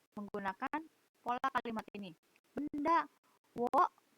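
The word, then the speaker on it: を: Benda, wo. Ini O ini dibacanya wo ya, pakai W. Wo. Tulisannya memang O, tapi dibacanya wo.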